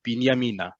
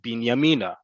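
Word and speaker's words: בנימינה: Normally, when in Israel, when we're saying the town of Binyamina, we say it like that, Binyamina. On the train, however, they're going to say Binyamina. They're going to put the emphasis on that last syllable because the train is going towards Binyamina, right?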